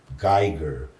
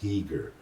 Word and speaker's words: Giger: The German artist Geiger, and he corrects me and said, no, he's Swiss and his name is pronounced Giger, Oh, and then from